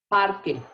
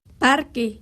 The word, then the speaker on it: parque: what does parque mean parque any guesses it's almost like in English just what word sounds like that in English it sounds like Park it's Park so you so that's